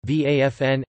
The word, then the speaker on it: Waffen: the waffen-ss german pronunciation vafn ss armed ss was